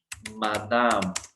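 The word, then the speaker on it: madame: Then we have मादाम, जो उसके लिए लेडी के लिए बोलते हैं। सी, ये तो इजी, एम ए मीन्स मा दाम, लास्ट ई हमने प्रोनाउंस नहीं करना, सो इट इज मादाम।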